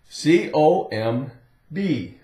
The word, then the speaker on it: comb: the word comb comb c o m b that's it the old o sounds long o comb comb like you have